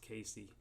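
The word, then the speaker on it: Cayce: 2025 and 2026 Edgar I think it's pronounced Casey Edgar Casey references the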